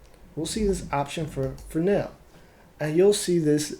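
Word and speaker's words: Fresnel: they say it you you would think it's fresno but it's for now that's what they say and if i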